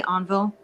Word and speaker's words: Envol: How do you actually say it? I say envo. You say it right. Envo.